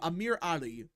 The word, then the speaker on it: Amir Ali: That's how you say his name, Amir Ali.